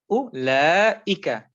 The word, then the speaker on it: أولئك: So if you don't see the alif, you should still pronounce it, by pulling the lam. So it's ulaika.